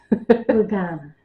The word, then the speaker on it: Lugana: I'm going to say it correctly, Emma. Lugana. Not Laguna. Not Laguna.